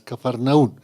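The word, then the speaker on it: Capernaúm: Y para la parte occidental estaba una ciudad también espectacular que se conoce, que es la ciudad de Capernaú. Para algunos su pronunciación oica es Cafarnaú.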